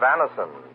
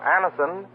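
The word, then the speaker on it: Anacin: This program is brought to you by the makers of Anison, the remarkable tablets that bring incredibly fast and effective relief from the pain of headaches, neuritis, and neuralgia.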